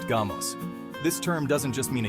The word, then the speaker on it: γάμος: In ancient Greek, the word for marriage is gamos, pronounced gamos.